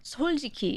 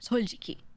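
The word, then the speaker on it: 솔직히: Soljiki is how you say it in Korean. Soljiki. Like S-O-L, soljiki, right?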